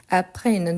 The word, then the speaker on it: apprennent: Et apprennent, je ne prononce pas le NT à la fin.